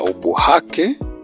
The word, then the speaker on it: ubuhake: Maana hii kikwao walikuwa wanaita ubu hake ehe. Na hata kama ukiangalia katika maandishi yake hii B ina H mbele yake eh kwenye U hafu kuna BH. Kwa hiyo hii inatamkwa ubuhake.